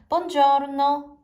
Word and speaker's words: Buongiorno: 발음이 약간 달라지긴 하는데 보통 Buongiorno. 요렇게 올라갔다 내려가는 식으로. 아니면 Buongiorno. 네, 요렇게 첫 번째 올라갔다가 내려간 이런 식으로 네 발음이 됩니다.